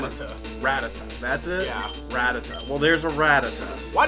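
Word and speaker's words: Rattata: think rat attack how what is the exact pronunciation cuz I've been call rata ratata that's it ratata well there's a ratata why does he get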